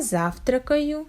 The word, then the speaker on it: завтракаю: You see, in this verb we have the stress on the first syllable, and all next syllables must be pronounced without a stop, without a stress, and without proper clear pronunciation of vowels.